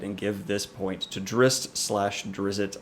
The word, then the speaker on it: Drizzt: give this point to Drizzt slash Drizzt I hate I hate that I'm a-saying dressed but I'll say it right for you guys it's dressed now we have role